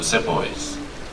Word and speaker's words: Sepoy: You're talking about the divided loyalties of the Sepoys.